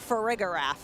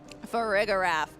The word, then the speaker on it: Farigiraf: I believe it's Farigiraf. 100% correct. That is a perfect pronunciation. 2 for 2. We don't even need the lower third to tell us. I knew for sure. Farigiraf.